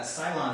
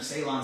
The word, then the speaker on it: Ceylon: breaking this off and we're using uh Cylon cinnamon or Ceylon cinnamon depending on how you pronounce it in this particular